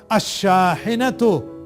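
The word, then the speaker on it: الشاحنة: chair शाहिनातन a truck a शाहिनातु the truck यहां भी आप मार्क कर लीजिए कि सीन के साथ और शन के साथ लाम साइलेंट अहनतु देखिए उसका एक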